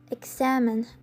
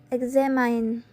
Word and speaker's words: examine: The case also works for examine, which should be pronounced examine instead of examine.